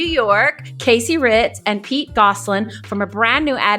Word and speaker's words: Gosselin: My name is Pete Goslin. Well pronounced by the way.